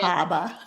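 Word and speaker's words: Bar Harbor: Bahaba. Yes, you never pronounce the R's. You gotta get your Bostonian accent when you're going up there.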